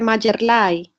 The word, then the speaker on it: Mayerly: Mayerly, así se pronuncia, perdón su nombre, Ramírez Echeverry. Profe, Mayerlay.